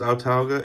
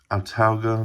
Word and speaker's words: Autauga: altauga arms mark ii i think it's pronounced autalga it's a-u-t-a-u-g-a um this is the mark ii in 32 acp you can check it out right here carrollton georgia 32 acp otalga mark ii now these